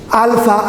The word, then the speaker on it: alpha: The first letter is pronounced as alpha, or from the word father.